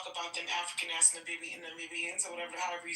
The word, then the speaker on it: Namibia: Namiba, how do you say that? Namibia.